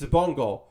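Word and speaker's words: Xabungle: I kept saying it wrong, but it's Zabungle.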